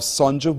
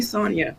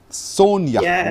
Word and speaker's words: Sonja: is the author herself Sonja Sonja good morning to you hi yes it's actually Sonia but yes hi Sonia Sonia the J pronounce it y as in Spanish thank you so much